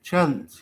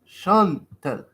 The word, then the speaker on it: Chantel: Like Chance, or Chanel. No. Chantel. No, so you did excellent French pronouncing.